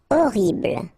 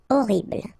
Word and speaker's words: horrible: Horrible. Okay, first letter is H, but then we don't pronounce H, so you don't pronounce it, and the first thing you hear is O. Horrible.